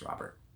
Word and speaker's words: Robert: So for those that don't know, Luis Robert is, and his name is Robert, not Robert. People like to pronounce it Robert. It's Robert.